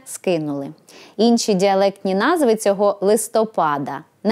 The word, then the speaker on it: листопад: Хоч у деяких діалектах української мови цей іменник наголошують на другий склад, літературній же нормі відповідає лише наголос на останньому – листопад.